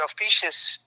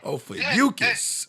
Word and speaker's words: Ophiuchus: Officious. Yeah, I probably said it wrong. I said Ophiuchus, my bad. I said the way he said it was cold. Ophiuchus.